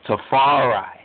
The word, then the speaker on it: Tafari: 23rd, 1892, his name, his proper name is Tefari, often pronounced as Tafari.